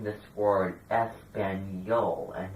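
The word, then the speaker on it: español: word Spanish foreign you realize that I was pronouncing this word espanol and not ESPN no when there's an active Mark over the end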